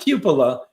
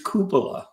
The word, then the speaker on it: Koopa: I had to relearn how to pronounce that right. Not Cupila, it's Koopa.